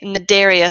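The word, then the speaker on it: Cnidaria: up in complexity okay mid area so that C is silent so these have radial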